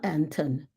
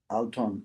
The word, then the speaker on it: Alton: And it's I spelled his name wrong. It's Alton or Anton Adams. Alton, Alton.